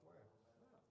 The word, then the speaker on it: Boyer: By Justin Anderson and Boyer. There you go. how do you say your last name? Boyer. Boyer. Okay. Boyer like Foyer. Boyer, that's fine. Okay. Sounds like Boyer like Foyer.